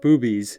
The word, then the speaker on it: Bube's: some incredible food and yes it is pronounced boobies and yes traveler it